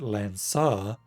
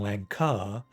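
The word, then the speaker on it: Lancaar: lance-shaped anti-armor device so i'd pronounce it lansar rather than lanka which means it's a lancel wielded by a land sir that's fun gsr's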